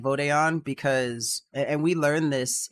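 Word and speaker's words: Vod'e An: Well, okay, so you said it's pronounced Vodeon? I thought it was Vodon. I'm pretty sure it's Vodeon because yeah, it is. Because Okay. vote is the singular, Vode is the plural.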